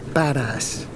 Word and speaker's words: Badas: town we're going to it's called badass b-a-d-a-s I'm pronouncing it as badass crapping the water hold